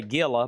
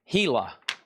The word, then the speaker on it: Gila: This is pronounced I would look at it and say Gilla, but it's pronounced Gila. And this is a killer poster. Look at the colors from 1959. The giant Hila monster.